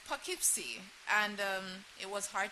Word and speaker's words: Poughkeepsie: Uh it's Poughkeepsie. And um it was hard to pronounce.